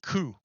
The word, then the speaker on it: coup: it has rules but in this word you don't say the last consonant so it's you say ku you pronounce it ku it means cut you